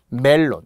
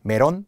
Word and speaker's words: 멜론: 자꾸 일본식 발음에 받침이 없는 일본식 발음에 표기 약간 익숙하다 보니까 메론 이렇게 하다 보니 그렇게 굳어진 것이기도 하거든요. 단, 우리는 무조건 멜론이어야 합니다.